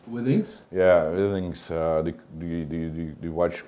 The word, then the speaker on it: Withings: From the company, how you pronounce it? Withings. Withings?